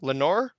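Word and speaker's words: Lenore: Lenor. Lenor. Lenor. Aren't you right, Lenor? Never more because it rhymes with never more.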